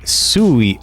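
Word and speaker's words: 水: Sui is water in Japanese and derived from Chinese, and the pronunciation is a diphthong, and it's like Sui. Oh, so there's actually like a reasoning for it.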